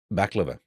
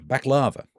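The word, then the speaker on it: baklava: Um, back lover. Thank you. Back lava. You're right. I've been saying it wrong.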